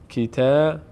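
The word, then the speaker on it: كتبٌ: تنوین یعنی آوردن نون. یعنی شما در هنگام تلفظ این حرف باید بعد از این با و زمی که داره به جای این ضمه دوم یک حرف نون ساکن بیاورید در تلاوت در تلفظ که این گونه تلفظ میشه. کیته بن این ضمه واو بو این واو دوم رو نون ساکن فرض کنید. کتبن کتبن کتبن کتبن این تا اینجا به تنهایی کتبن خوانده میشه اما ما در قواعد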